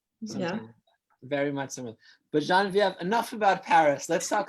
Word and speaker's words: Geneviève: But Geneviève, enough about Paris.